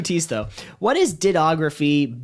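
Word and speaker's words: dittography: Next, what is dittoography? I believe it's pronounced actually ditography. Sorry if that Ditto is there 2 O's or 3 O's? No, just the 1 O. Yeah. 2 T's though. What is ditography?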